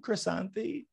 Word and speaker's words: Krisanthi: me welcome my guest today croissant welcome chrysanthe thank you thank you it's a pleasure to